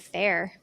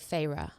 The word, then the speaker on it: Feyre: amarantha yeah amarantha farra oh I pronounced it Fair no so she in the beginning she says you say Farah well I read that